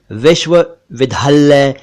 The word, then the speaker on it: विश्वविद्यालय: से बना है विश्वविद्यालय इसको भी कुछ लोग विश्व विद्यालय विश्व विद्यालय वगैरह कहते हैं जो कि गलत उच्चारण है सही उच्चारण है विश्वविद्यालय विश्व विद्यालय एक शब्द